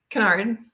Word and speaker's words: Kennard: We're here with Kennard, or Kennard, how do you say it? Kennard.